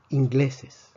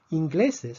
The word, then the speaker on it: ingleses: Ingleses, por otra parte, tiene tres sílabas. Ingleses. Vemos que ingleses termina en S y la fuerza sí está en la penúltima sílaba, gle.